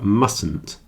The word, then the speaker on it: mustn't: often seen contracted to mustn't we don't always pronounce the middle T there mustn't and it's a